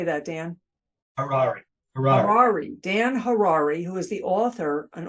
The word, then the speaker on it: Harary: my name is Dan Harari rhymes with Ferrari that's how I remember